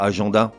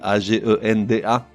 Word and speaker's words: agenda: Non, pourquoi agenda? Certes, ça s'écrit A-G-E-N-D-A. Et certes, les lettres E-N devant un D devraient se prononcer en. Mais pas là, ça se prononce agenda.